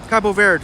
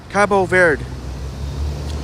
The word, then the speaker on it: Cabo Verde: going to uh visit Cabo Verde. Cabo Verde, sorry. And thank you for telling me the proper pronunciation. Wesley, I know a lot of folks still make that mistake. Cabo Verde.